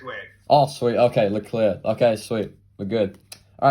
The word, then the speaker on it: Leclerc: Leclerc. Oh, okay. Because so many different people pronounce it differently, so I just want to make sure. That's the correct way. Oh, sweet. Okay, Leclerc.